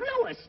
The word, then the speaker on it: Louis: the plant Lois Lois me name is LS not Lois J W everybody enolates me name wrong it's LS l o u i s Lois uh Louise Lucy